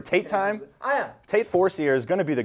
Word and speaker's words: Forcier: Tate Forcier is going to be the guy this spring. Well, especially, you know. You going Forcier or Forcier? It's Forcier.